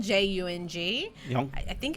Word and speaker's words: Jung: and I read his work Carl Jung Zhang it's spelled Ju ng you know I think it's Jung but of